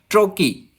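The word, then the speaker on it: trochee: तो दोस्तों ए ट्रुकी हैज़ to syllables, इसके दोस्तों प्रोनाउंसिएशन ट्रोकी भी होता है और ट्रुकी भी होता है, दोनों ही हम इसको प्रोनाउंस कर सकते हैं।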